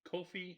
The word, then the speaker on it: Coffey: We already talked about the Kofi still. Really? It's spelled like it should be coffee.